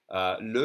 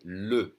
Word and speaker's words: le: We have a bunch of two-letter words, and the E in second position is going to be pronounced E, as in le. But when there's an S, it's always going to be pronounced E, as in les.